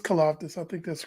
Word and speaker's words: Karlaftis: So George Karlaftis, I know I might pronounce his last name wrong, but no, I think you got it right. It's Karlaftis.